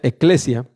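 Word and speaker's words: ecclesia: Iglesia viene del griego primero y luego del latín, que se pronuncia eclesia, que significa congregación.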